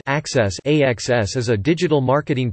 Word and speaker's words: AXS: AEG partnered with Outbox Enterprises, a startup company, in which AEG is both an equity partner and a client, to develop AXS, pronounced Access.